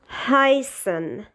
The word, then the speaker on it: heißen: However, it's pronounced as S. For example, is in heißen.